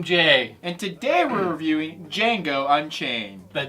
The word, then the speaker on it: Django: And today we're reviewing Django Unchained. The D is silent. The D is silent, Oh. but J is not.